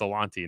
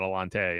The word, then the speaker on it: Alontae: Like Alontae Taylor, for example, everyone was saying his name wrong, and it was like, yeah, it's Alontae, not Alante.